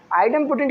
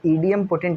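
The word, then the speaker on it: idempotent: आइडेम्पोटेंट की condition ये रहेगी ये ईडीएम पोटेंट नहीं पढ़ेंगे इसे आइडेम पोटेंट पढ़ेंगे।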